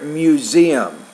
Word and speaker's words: museum: You want to say there, museum. So the stress is on the second syllable there.